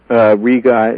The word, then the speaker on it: Riga: Riga is the correct pronunciation.